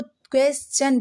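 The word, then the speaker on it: question: Rule number 8, pronounce the word ending STION चन with a च sound. अभी मैंने बताया ना कि क्वेश्चन को क्वेश्चन नहीं पढ़ते हैं, उसको क्वेश्चन पढ़ते हैं, क्वेश्चन।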